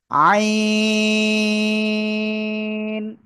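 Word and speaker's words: عين: আপনাকে তিন আলিফটা নিয়া না চার আলিফটা নিয়ে উচ্চারণ করতে হবে। আইন সবাই একসাথে জোরে বলেন। আইন মাশাল্লাহ।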